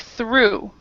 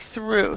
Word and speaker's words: through: pronounce break do break through break through so the the GH is not pronounced at all this is not pronounced